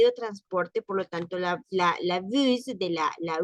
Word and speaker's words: bus: Bus, sí se pronuncia la S. Acá no vamos a decir bu. Aquí no aplica aquello de las palabras de, de que de que no se pronuncia la S en este caso, porque no estamos hablando de un verbo, ni de un adjetivo, ni es un nombre en plural, sino que estamos hablando